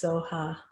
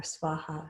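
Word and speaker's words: स्वाहा: And then Ye Svaha, which is like so be it. So Om Muni Muni Mahamuni Shakyamuni Ye Svaha. Sometimes that's pronounced Soha, but either way, Soha or Svaha is okay.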